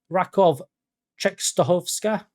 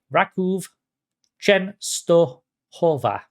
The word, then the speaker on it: Raków Częstochowa: Then move on to Rakov Częstochowska. No, that's the wrong pronunciation. They're a Polish team that play in the Conference League. We're going to try that again. Raków Częstochowa. Rakov Częstochowa.